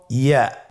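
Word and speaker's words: ياء: পরবর্তী হরফটির নাম হল ইয়া। পরবর্তী হরফটির নাম ইয়া। পরবর্তী হরফটির নাম কি? ইয়া। ইয়া হরফটি উচ্চারণের ক্ষেত্রে বারিক হবে এবং এক আলিফ টেনে পড়তে হবে।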